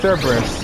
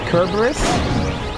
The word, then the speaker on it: Cerberus: Oh, something interesting about Cerberus. Well, two things. One is his name might actually pronounce with a K. So it's Kerberos. At least like in the actual myth, I think.